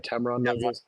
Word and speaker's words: Tamron: d500 um and Tamron Tam say it right Tamron uh usually a 70 to 200 or I